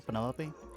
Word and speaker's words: Penelope: Is that short for Penelopey? Officially, yes, but I never can be bothered with all four syllables of it.